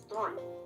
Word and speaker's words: Theroux: It's Theroux, like I threw the ball. Except it's 2 syllables, not 1.